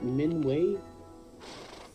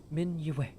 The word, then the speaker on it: Min'Yue: It is a little difficult, I've noticed, for people who only have spoken common in their lives, as it's not a Y that is a syllable to itself, as I've noticed most other Y sounds in common are. It is just a part of the syllable for way.